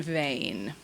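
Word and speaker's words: ו: V, or va, as in lava, which we transliterate as V or W.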